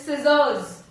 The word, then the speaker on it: scissors: Next is scissors. स का sound आ रहा है scissors में, but C का नहीं आ रहा है, तो which letter is silent?